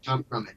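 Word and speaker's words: Tom Grummett: And you're working with, I'm not sure, is Tom Grummet? Is that the pronunciation? Yeah, it's Tom Grummet, yeah. I sometimes joke, you should say his name Grummet, but that's just to confound people.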